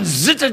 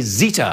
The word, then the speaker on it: Zeta: properly but i can catherine zitter jones it's not i can't pronounce it i just don't have the time to say zeta i have to go zitter anyway he takes her